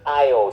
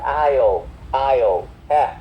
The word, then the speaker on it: aisle: Aisle nó không, các bạn thấy có âm s đúng không, nhưng mà âm s bị câm cho nên không có âm s đâu nha.